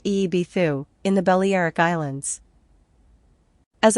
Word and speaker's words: Ibiza: This is seen in other locations set up by the Etruscans, who are the Pelasgians, such as Ibiza, pronounced Eebithu, in the Balearic Islands.